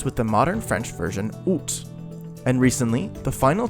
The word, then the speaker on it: Aoust: Then, towards the start of Middle French, many of the S's before T's became silent, creating out or out with a silent S.